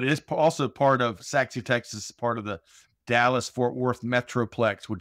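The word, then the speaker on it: Sachse: Thomas the first one some folks when they hear saxi Texas which is I think your hometown they may be assuming how it's spelled but it's not spelled like it sounds how's it spelled it's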